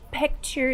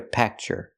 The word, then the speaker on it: picture: cannot say take a pcture not take a pcture take a p picture use the short I sound like this is it's a more Clos sound P not P but P picture take a picture example